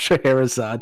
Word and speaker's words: Scheherazade: It's pronounced Scheherazade, Josh.